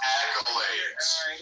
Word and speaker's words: accolades: First, it's pronounced accolades.